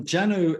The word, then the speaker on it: Janu: Aman Group, which is the new sister brand, Janu. Is that how I pronounce it? Yeah, Janu in Sanskrit means soul.